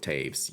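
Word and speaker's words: Toews: oh Oh you mean you mean toes I get that that's a brutal one really tough to like see that and go with Taves yes Omar sepia if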